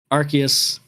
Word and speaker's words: Arceus: I'm eventually gonna get Pokemon Arceus.